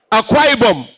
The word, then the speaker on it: Akwa Ibom: Is that the pronunciation? Akwa Ibom. Is it Akwa? Akwa Ibom.